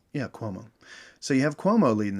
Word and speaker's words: Cuomo: Cuomo? Yeah, Cuomo.